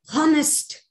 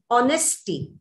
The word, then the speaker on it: honest: h is silent there honesty honest or honor so h is a consonant but h is silent and what we pronounce